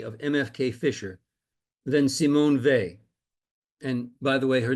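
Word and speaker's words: Weil: MFK Fiser than Simone Vy. And by the way, her name is pronounced the V the W is pronounced as a V. V. Simone Veay was deemed as one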